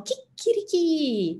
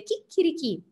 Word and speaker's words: chicchirichì: succede quando noi diciamo chicchirichì dobbiamo fare attenzione all ovviamente ma alla pausa prima delle 2 c e al fatto che l'accento va alla fine l'accento sull'ultima e quindi a chicchirichì fa il gallo poi